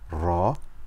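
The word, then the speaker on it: راء: so repeat after me it's not like the letter r in English which is very soft instead is much more full so we've covered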